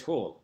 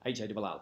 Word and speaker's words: Hall: So it's Hall, H-A-L-L.